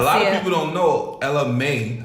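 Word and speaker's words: Ella Mai: Or you see how like Drake did it, like Now a lot of people don't know Ella May. I said it right? Yes. Ella May.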